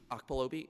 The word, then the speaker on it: Okpalobi: Do you want to talk about Okaloba, or however the correct pronunciation of that? This eludes me. Okpalobi? Yes.